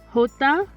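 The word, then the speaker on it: jota: not e but e hota is similar to the english h but it can be a bit more harsh or breathy ka is not very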